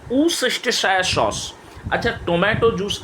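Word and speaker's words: Worcestershire: Pronunciation अच्छे से सुन लीजिएगा, ऊसेस्टरशायर सॉस, और इसको एलपी सॉस के नाम पे भी जाना जाता है।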